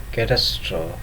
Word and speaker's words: catastrophe: we see here: recipe, catastrophe, apostrophe, acne, palsy, and vigilante, and many more are wrongly pronounced by silencing the letter E at the end of the word.